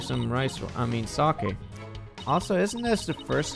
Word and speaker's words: sake: the sugary red bean they drink non-alcoholic sake sake that's good that's the best pronunciation hahaha Thank You TIA since we really